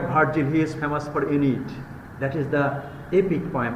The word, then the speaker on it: Aeneid: So this is Aeneid. The pronunciation is Aeneid. Aeneid is also considered a national epic of ancient Rome.